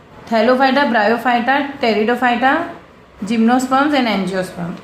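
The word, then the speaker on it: Pteridophyta: टेरिडोफाइटा, P silent है, टेरिडोफाइटा, फिर gymnosperms and last में है एंजियोस्पर्म्स, ठीक है।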